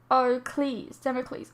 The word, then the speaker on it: Damocles: Damocles, oh god, is pronounced Damocles.